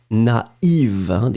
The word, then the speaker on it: naïve: first A, na, and then separately you will pronounce the I. Naïf. Naïve.